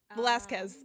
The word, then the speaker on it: Velasquez: Valsquez? Okay. Okay. Velasquez. Um, I'm like, Velasquez. I had it Yeah.